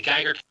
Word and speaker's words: Geiger: I think the Geiger's head is fantastic. It is pronounced Geiger. Yeah, Geiger. Geiger? Like Geiger counter.